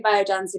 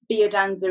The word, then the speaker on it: Biodanza: Well, I say Biodanza because bio is the English way of saying life, but Biodanza is the more international way.